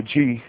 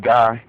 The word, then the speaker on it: Gye: For those that don't know, GYE is, or G, we say G. Some of y'all probably pronounce it Guy, but we say G for various reasons.